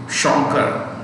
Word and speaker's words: Shankar: They would say Shankar. Air is blown in the mouth.